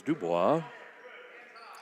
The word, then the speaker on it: DuBois: Penn State Dubois third quarter, as Bob always says, Dubois. He's very proper in his pronunciations.